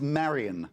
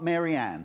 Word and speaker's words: Marion: Her name is Marion, not Marianne.